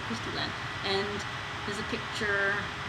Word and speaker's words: Christy Len: But it's, if you search, it's Christy, as it's spelled, and then L-E-N, Len, so Christy Len.